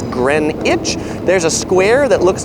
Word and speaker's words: Greenwich: The other couple things about pronunciation is Greenwich Mean Time, or Greenwich. It's not Greenwich, it's Greenwich.